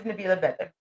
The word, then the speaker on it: Nabila Beder: Um and so I don't actually think I pronounce this the most proper, but this is how I pronounce it. So, my name is Nabila Beder.